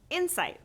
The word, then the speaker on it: insight: Another example of lexical stress: inCITE vs. INsight These words are phonetically the same but have different meanings. How can we tell the difference? By the way stress is placed within the two words.